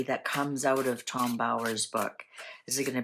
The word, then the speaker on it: Bower: Tower rhymes with Bower.